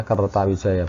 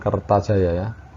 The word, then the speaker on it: Kertawijaya: yang meneruskan adalah kertawijaya dibacanya kertawijaya bukan Kertajaya Kertajaya itu dandanggendis yang